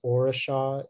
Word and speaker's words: orisha: orisha may have other information yeah the only pronunciation is aurasha it's a noun and it comes from your